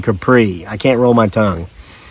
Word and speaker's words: Kapre: But before there was Bigfoot Sasquatch, there was Kapre. That's how you pronounce it.